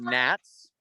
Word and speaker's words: gnats: And they're called gnats. Yeah, and that has a weird G in the front of it, a silent G.